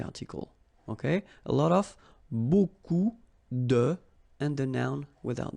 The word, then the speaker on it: beaucoup: If you want to use beaucoup, beaucoup means a lot of. It looks a bit strange, huh? Beaucoup, like that. Remember, you don't pronounce the final P, okay?